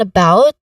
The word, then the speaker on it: about: Also in about, the stress is on the second syllable. In this particular phrase, the stress is on about. In the second syllable of about, which is about, and then the first syllable is a schwa sound, right? Again, schwa sound is a quick, relaxed, and stressed vowel sound. So that's the schwa sound. And this is about. The second syllable is the stressed one, about, about.